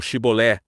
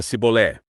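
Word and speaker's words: Shibboleth: Enquanto os gileaditas pronunciavam Shibolé, Shibolé, da boca dos efraimitas só saía Sibolé.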